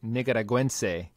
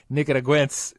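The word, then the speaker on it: Nicaragüense: Number one, I was saying the word is, Omar told me, Nicaraguense, and I've been saying Nicaraguense, so like the Italian version, Nicaraguense.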